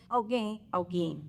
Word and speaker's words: Olguin: And I didn't pronounce her last. Olguin.